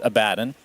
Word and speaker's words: Abaddon: First of all, I understand that the correct pronunciation is Abaddon.